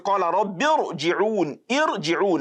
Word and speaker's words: ارْجِعُونَ: Now, the word irji'un, that alif there is given an imaginary, or let me say a temporary kasra, then followed by ra sukun. That kasra is not fundamental in that letter.